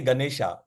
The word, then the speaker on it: गणेश: in English like गणेश गणेश अण अण अण आव आव मल right we normally we English people normally से गणेशा वी इट इज नॉट गणेशा इट इज गणेश गणेश pronounce इ गणेश आव आव है ना